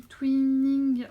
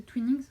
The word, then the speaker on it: Twinings: Il s'agit du Twinning, j'arrive pas à le prononcer, Twinings, ouais c'est ça.